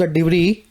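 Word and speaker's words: debris: तो डिब्री word भी देख लेना। बहुत बार आएगा आपके पास रीडिंग के अंदर। पीछे का एस इसका साइलेंट है।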